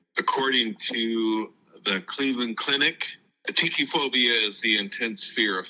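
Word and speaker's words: atychiphobia: is definitely a phobia of mine it's called atii phobia and yes I looked up how to pronounce it because I wanted to make sure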